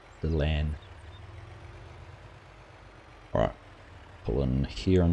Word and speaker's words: Dylan: Prefer HMG or Dylan, pronounced Dylan. See, Dylan, not Dylan. Dylan.